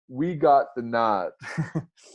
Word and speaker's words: Naad: And our podcast is called "We Got the Nod." Again, that's NAAD. Nod is spelled with 2 A's.